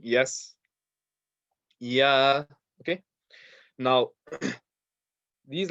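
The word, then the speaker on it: ي: Okay, and this last letter here is yeah, yeah, yeah. And again, I'm gonna keep it simple, just very similar to the letter Y in English. Like if you're saying yes, yeah.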